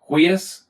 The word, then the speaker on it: huius: The genitive forms are pronounced as a 2-syllable word, and they all match. Huius, huius, huius.